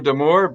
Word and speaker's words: D'Amours: Yeah, well, in French, the S at the end is silent, so it's Damour.